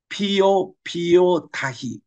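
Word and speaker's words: Piopiotahi: 여기는 이 남서부 이 피오르랜드 이게 이제 본래 거기 발음은 피오 타히 이게 그 현지 발음이에요. 마오리 족속의 그 발음입니다.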